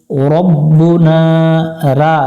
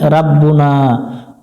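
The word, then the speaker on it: رَبُّنَا: এক আলিফ টান দিব এক লেখাগুলো দেখে কলু রব্বুনা রা পড়া যাবে না এখানে ভুল করে অনেকজনে রাব্বুনা রব্বুনা এক আলিফ টান হবে জবর এবং খালি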